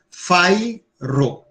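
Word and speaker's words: fajro: Então, só são duas sílabas. Fairo. Então, a acentuação fica no fai.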